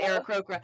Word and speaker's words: Aarakocra: And there's other ways to pronounce it, but I pronounce it Aarakocra.